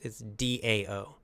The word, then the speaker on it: Tao: often you'll see it's D-A-O. But it's always pronounced duh with a D sound. So it's very confusing. It's spelled with the T, T-A-O, but then we say Dao.